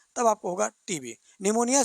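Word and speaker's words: pneumonia: को हम कहते हैं निमोनिया। निमोनिया को जब लिखने जाएंगे तो स्पेलिंग शुरू होता है पी से। पी निमोनिया कहते हैं उसको।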